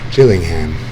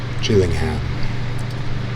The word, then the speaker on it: Gillingham: Gillingham. That's how you say that. It's pronounced with a soft G, as in ginger. Gillingham.